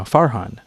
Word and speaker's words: Farhan: So, my family's from Bangladesh and we pronounce it, you know, Farhan, just there's no because we don't have a a long a or a short A in our language.